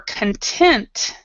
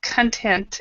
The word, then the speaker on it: content: this is this is content and the pronunciation is like this content and we're than the next one is content and that's on content and content and basically that stress on this first one you're stressing actually this